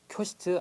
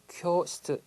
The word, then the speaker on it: 教室: 발음 정말 꼭 주의해 주십시오. 교시트 아니라고 그랬습니다. 교시트 길게 발음하시는 거 꼭 기억해 두시고요.